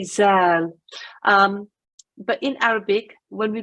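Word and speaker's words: ذال: you tend to say zal. But in Arabic, when we pronounce this letter, we have to put the tongue in the same way as if we're saying the English word they or this.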